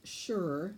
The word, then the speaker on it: sure: The sight word sure sounds like it starts with an SH, but it doesn't. It starts with an SU.